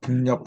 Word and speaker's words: 北: 이제 그래서 북녘 북자 또 이렇게 등을 맞대니까 서로 도망간다고 얘기해요. 그래서 도망갈 배자, 달아날 배자. 요 글자가 발음이 두 가지라는 거. 하나는 북, 하나는 배.